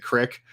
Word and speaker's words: creek: I feel like a bunch of people are about to leave the chat because I pronounce it crick. But it's just a fun Ohio slang that I like to use.